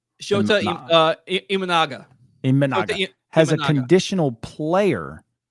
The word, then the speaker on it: Shota Imanaga: Shota Umaga? Shota Imanaga.